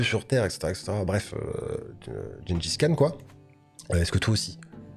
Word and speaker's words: Gengis Khan: Bonsoir YouTube, nouveau défi, le Gengis Khan Challenge, oui je prononce Gengis Khan, on s'en fout, Chinggis Khan, etc., etc.